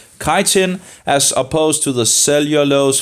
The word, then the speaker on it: chitin: fungal cells walls contain chitin I think it's it's pronounced chitin as opposed to the